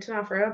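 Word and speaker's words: Ctenophora: And comb and Tenophora both start with a C.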